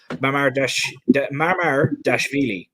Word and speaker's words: Mamardashvili: Oh, God, let me try and pronounce his name again. Mamardashvili is the way that I think it's pronounced.